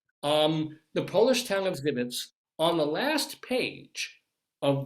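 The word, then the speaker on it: Żywiec: It's pronounced like Zivits. The Polish town of Zivits on the last page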